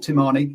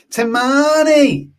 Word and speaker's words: Timani: pronunciation thing for you it's not tamani it's timani that's how you gotta go no no no no